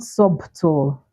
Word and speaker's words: subtle: not dep not depth then we also have subtle subtle not subtle right so it's subtle subtle data death yeah